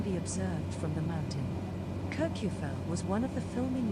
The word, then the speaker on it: Kirkjufell: Kirkjufell was one of the filming locations for Game of Thrones Season 6 and 7. Oh, interesting trivia there about Kirkjufell. And that island is pronounced Kirkjufell.